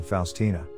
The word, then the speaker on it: Faustina: Maria Faustyna Kowalska del Santissimo Sacramento e comunemente pronunciata Faustina, era una monaca cattolica romana polacca e mistica.